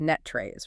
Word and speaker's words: NTREIS: And for anyone who doesn't know, that's spelled n t r e i s, but pronounced net trace, right?